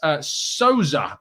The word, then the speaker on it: Sousa: But Sousa, I believe, is the best way to pronounce his name.